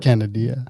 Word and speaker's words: Kanodia: guys by the way the pronunciation of my name was canadian right on okay perfect um